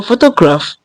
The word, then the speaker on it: photograph: on the first syllable so obviously um photograph is tricabic I mean you get full toraph photo to graap so it's tricabic and being in now so automatically the um the first syllable has the stress Now for the second one we have photographing.